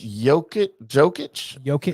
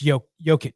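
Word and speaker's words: Jokić: Is it Jokic? Or is it Y? Like it's not Jokic, right? It's Jokic.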